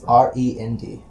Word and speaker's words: Rend: spell it for me r-e-n-d not like the musical my name is rend